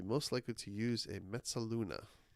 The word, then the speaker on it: mezzaluna: Yeah, nice Italian pronunciation. I was hoping no one would notice that. Yeah, probably Mezzaluna, I guess, is what is really might be a better pronunciation. No, Ursula, that was right the first time.